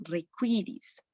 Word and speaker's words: requiris: La U después de la Q siempre va a sonar requiris.